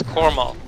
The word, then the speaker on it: Coral: so it's okay Quin just his name is coral like Coral it's super easy that